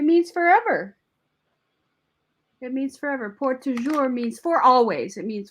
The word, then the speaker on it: Pour Toujours: Pourtoujous. It's a French name. That's pour toujours, forever.